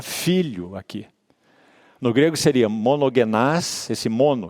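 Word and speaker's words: μονογενής: No grego seria monogenás, esse mono. O que é mono? Único, né? Mono, singular. Monogenás. A gente no português pronuncia monogênes, né?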